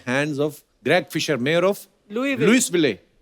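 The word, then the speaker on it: Louisville: आज आगे तभी बढ़ेंगे लुईस जब लिखा है तो स क्यों नहीं बोल रहे हैं जैसे नाइफ में क साइलेंट होता है के साइलेंट होता है वो तो के पहले आता है ये तो बीच में घुसा हुआ है बट कई बार लुईस प्रोनाउंस होता है एस के साथ और कई बार नहीं वो कई क्यों नहीं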